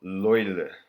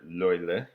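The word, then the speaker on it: löyly: The steam that's generated actually has a Finnish name, and it's called, I'm going to pronounce this horribly, but I'm going to give it a shot. It's called loile.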